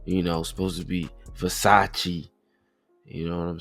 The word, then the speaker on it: Versace: I don't even know how to pronounce these uh past those Vasacasis or you know supposed to be Versace.